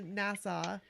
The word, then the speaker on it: Nassau: I think about you that day when we went to Nassau.